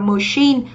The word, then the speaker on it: machine: Và đáp án D thì từ này của chúng ta là máy móc, chúng ta đọc là machine, cũng là âm sure.